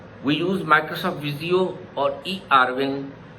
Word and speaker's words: eRwin: We use Microsoft Visio or eRwin. It's not Erwin. People pronounce it Erwin, which is wrong. So it's eRwin, entity relationship for Windows, are tools used to draw ERD diagram.